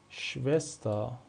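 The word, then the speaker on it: Schwester: شوست شوست شوست مثل شوستا میبینید دیگه اینجا بعد از اس ما حرف صداداری نداریم پس اینجا دیگه اسم ما صدای سه میده شوستا یاد گرفتیم که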